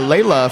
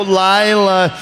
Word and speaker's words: Lila: She'll be going up against number 42, Lockjaw Layla from Calgary. Just a quick correction. It's actually Lockjaw Lila. Oh, Lila.